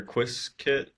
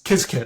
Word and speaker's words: Qiskit: Um, so yeah, you mentioned is it Qiskit or Quiskit? How do you say that? It's Qiskit, I think, is the official pronunciation.